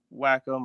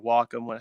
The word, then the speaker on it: Wacom: I use a Wacom or Wacom, however you want to pronounce it, Cintiq, and it's starting to go bad.